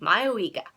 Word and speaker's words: Mayoiga: That's how I'm gonna pronounce it. Okay, Mayoiga.